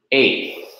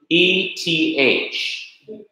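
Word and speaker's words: אֵת: see the Hebrew word eighth, the aleph, the sire, and the thou, the E-T-H. And it is also pronounced eth when the accent is removed from eth, eighth, it becomes eth.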